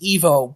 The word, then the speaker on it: Ivo: was robotnik yeah he he it should be pronounced evo but i'm always going to call him ivo yeah i always thought it would pronounce divo